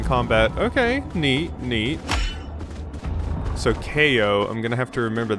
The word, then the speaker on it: Kao: hairy ko it's time ko okay that is not how i thought that was going to be pronounced i thought for sure it was cal that's the only time